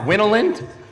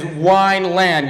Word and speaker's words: Wineland: my real name is Wineland you drink too much wine you land on the ground at least that's what